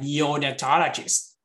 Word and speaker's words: neonatologist: You need to stress the syllable before that. Glucometer, cystoscopy. Like neonatologist, you see?